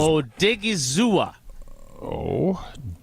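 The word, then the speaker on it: Odighizuwa: I just want to make sure because Odigizua. Thanks to Hunter Vaughn for the pronunciation.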